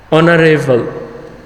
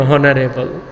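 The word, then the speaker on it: honorable: অনারেবল আমরা বলি না কখনো হনারেবল, তাহলে এইচটা অনুচ্চারিত আছে, আনভয়েসড আছে, এজন্য আমরা তার পূর্বে এন ব্যবহার করছি।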